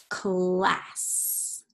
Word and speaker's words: class: So in this word, the C is going to say k, hard C, k. So this is the word class, class.